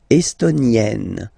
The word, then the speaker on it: estonienne: L'Estonie, estonien, estonienne. Same thing here, double N, and then you open it.